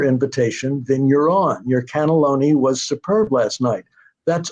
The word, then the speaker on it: cannelloni: Like you don't say cannelloni, you say cannelloni, you know, and superb, you don't say superb, you say superb. So the emphasis there, you have to figure out what syllable the emphasis has to be on.